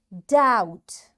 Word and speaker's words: doubt: Doubt. B is silent, and doubtful.